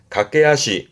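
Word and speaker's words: 駆け足: 그래서 이렇게 쓰면 발음은 갓게하시 각게하시 달리는 발 달리는 발이라함은 간단히 말하면 박질이에요.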